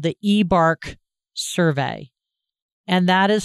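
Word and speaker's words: eBARQ: And I would like you to complete what's called the eBARC survey. And that is spelled E-B-A-R-Q.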